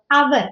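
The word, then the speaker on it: hour: എക്സാമപിൾസ് Aivas waiting in the park ഫോർ ആവർ അവർ അവർ എന്ന് പറയും she received the award with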